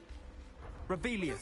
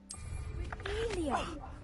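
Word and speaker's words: Revelio: You're Rebellious. saying it wrong. There we go. Revelia.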